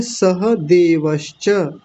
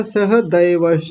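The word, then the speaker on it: सहदेवः: नकुलः उसके बाद है सह देवस किसी ने अभी बोला था सह दैवस दैवस नहीं सह देवस देवस च सह सह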